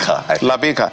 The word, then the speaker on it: Labake: Ibrahim Labake, how do you pronounce it for me? Says he's resigned. Labeka.